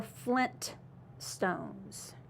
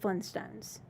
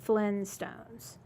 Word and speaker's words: Flintstones: it I just know I always mispronounced it I said Flintstones I didn't say that T I said Flinstones yeah I think we